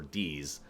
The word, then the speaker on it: DiZ: He will call himself Diz or Deez. They've actually changed their pronunciation preference on that over the years. I'm pretty sure it's Deez now.